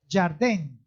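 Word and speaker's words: ירדן: Jordán significa, en hebreo es Jardén. En hebreo se escribe Jardén con Y de yuca, Jardén.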